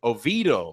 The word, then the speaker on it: Oviedo: Oviedo. Yeah. Long E.